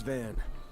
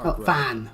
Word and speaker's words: Van: The name's Van. Van Fan. My bad. I'll say fan because that's what I end up doing, I guess. But fan is the correct pronunciation.